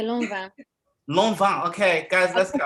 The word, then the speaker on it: Lanvin: I say Lanvin. Lanvin, okay, guys, let's get our right. That's what I say.